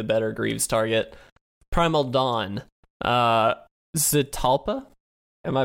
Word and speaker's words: Zetalpa: Zetalpa? Am I pronouncing that correctly? Zetalpa.